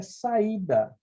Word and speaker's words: saída: E a terceira palavra é saída. Então, olha, vogal mais vogal, sílabas separadas.